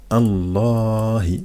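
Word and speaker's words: الله: le la lettre d'avant donc le LEM qui avant en fait on le prononce pas donc on dit directement Allah pourquoi parce qu'il y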